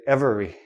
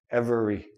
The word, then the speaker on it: every: re i don't say every I don't say this letter e every every every one everything